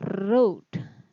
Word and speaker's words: road: Lalu kata yang mirip pengucapannya dengan no, itu ada o, itu kata road. Ya, menulis. Road. Lalu ada kata drove, mengemudi. Drove. Dan ada kata road. Ya, road. Jadi kata road, drove, road itu mirip dengan kata no.